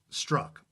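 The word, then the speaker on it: Strzok: in America with the name STR Z okay struck ok hundred families had a 320 million people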